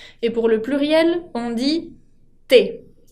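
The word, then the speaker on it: tes: Et pour le pluriel, on dit te. Te se pronuncia igual que me, sin la S final.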